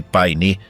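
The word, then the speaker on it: Paine: E Pain, pronuncia-se paini é a palavra nativa para azul, as torres azuis.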